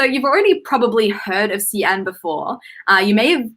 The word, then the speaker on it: Xi'an: the name as like zion or zhiyan uh so just a bit of an fyi in chinese the x the letter x is more of a sh sound uh rather than a